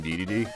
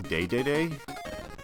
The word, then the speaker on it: Dedede: one of them but they pronounce it as king day-day-day and uh the only